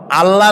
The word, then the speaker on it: আল্লাহ: কি গুণাবলীতে বিশ্বাস আল্লাহর নাম আল্লাহ বলেন তো আল্লাহ নয় কিন্তু আল্লাহ হচ্ছে অশুদ্ধ শুদ্ধ হচ্ছে আল্লাহ